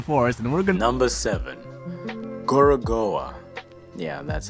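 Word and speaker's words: Gorogoa: are in the forest and work another seven gorgoa yeah that's how you say it an incredibly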